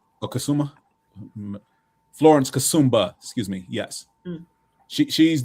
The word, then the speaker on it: Florence Kasumba: From um Wait, how do you pronounce her name? James Florence Cassumba, I believe. Okay. Kassuma. Florence Kasumba, excuse me.